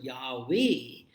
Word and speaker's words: Yahweh: And the word Yahweh, when you pronounce the word Yahweh, it really is like the inhalation and exhalation of the breath. So do this, Yahweh. So when you inhale, the sound is Ya, and when you exhale, it is Wa.